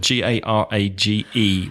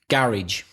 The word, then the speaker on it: garage: Garage. Me too. Garage. And the Americans would say? Garage. And some people in Britain would say garage, and they tend to be of the higher classes.